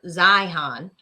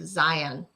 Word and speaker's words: Zeihan: And it was Joe Rogan talking to a guy called Peter Zeihan, or I think he might pronounce it Zion. Zeihan, something like that. Yeah, at the end he pronounced it like Zion.